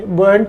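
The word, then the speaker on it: buoyant: बॉयंट word का मतलब प्रसन्नचित या खुश होता है, इसका मतलब जो होता है। इसका प्रोनाउंसिएशन देखेंगे तो काफी मिलता जुलता हो रहा है बॉय से।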